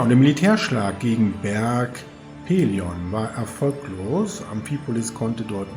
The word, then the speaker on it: Pelion: Ja, und eine Streitmacht marschiert gen Berg Peleion. Wobei ich festgestellt habe, dass ich das die ganze Zeit verkehrt ausgesprochen habe. Es wird nämlich Berg Pelion ausgesprochen.